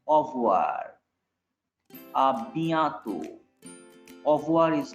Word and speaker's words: au revoir: You notice I am not pronouncing R-E. Au revoir.